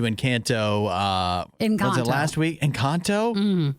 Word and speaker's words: Encanto: Why do I have to say it like that? What do you mean? That's how it's pronounced. It's the name of the movie. Encanto. You can also still say it that way. That's the very, I guess I'm saying it with an American accent.